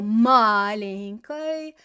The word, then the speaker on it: маленькой: picturing that word, and we can see that there's an oi on the end of that маленькой, but we're smart and we know that we don't pronounce it as an oi unless it's stressed, right?